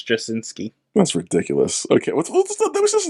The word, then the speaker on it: Straczynski: Straczynski. Straczynski? I think the C is... Nah, it's like Straczynski. I think the C is silent. I think it's Straczynski.